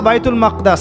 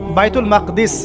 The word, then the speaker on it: বাইতুল মাকদিস: এবার এই বোরাক চলে গেল বাইতুল মাকদাস। এটা কোথায়? বাইতুল মাকদিস, বাইতুল মাকদাস না, বাইতুল মাকদিস।